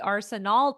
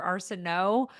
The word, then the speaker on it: Arsenault: And there's like two ways to pronounce my last name. It can be Arsenal or Arseno.